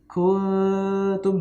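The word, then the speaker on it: كُنْتُمْ: Misalkan tadi contohnya kungtum, ya, kungtum, kaf non ta mim, ya, non mati ketemu ta. Nah, cara bacanya itu ketika ikhfa itu langsung mau siap-siap, ya, akan siap-siap ke huruf ta. Kuntum, nah gitu ya.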